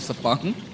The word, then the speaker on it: Sepang: to 12 hours rud rental cart championship in sapang international cting circuit I I just have to say sapang instead of sapang yes otherwise it might look a little bit